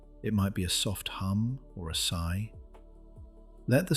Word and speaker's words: Ham: It's called ham, spelt H-A-M but pronounced hum.